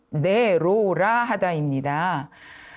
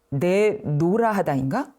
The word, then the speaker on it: 내로라하다: 대표할 만하다는 뜻을 나타내는 내로라 하다입니다 내로라 하다가 발음이 약간 어렵잖아요 그리고 형태도 좀 낯설죠 그렇다 보니까 내노라 하다인 내노라 하다인 이렇게 생각하시는 경우가 있어요 아 이때 쓰는 말은요 내로라 하다입니다 내로라 하다는 옛말인 내로라